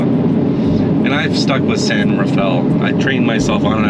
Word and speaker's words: San Rafael: but they pronounce it San Rafael, is how you would say it if you're in Utah. And I've stuck with San Rafael.